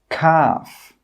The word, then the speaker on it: calf: The letter L is normally not pronounced when it's after the vowels A, O, and U. Some example words are walk, half, calf, yoke, could.